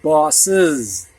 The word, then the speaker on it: boss's: So we've got the word boss here, with apostrophe S, and this is pronounced bosses, like it's IZ, kind of, is.